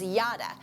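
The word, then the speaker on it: ידע: it actually the word the pronunciation is yada which made me think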